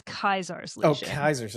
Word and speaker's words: Caesar: So they say Ave to Kaiser through the whole thing. So because they don't know how to say it. Yeah, it's Kaiser.